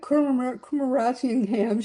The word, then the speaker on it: Kumarasingham: And Reena Kumarasingham, she told me I said it right once, so I'll never be able to do it again.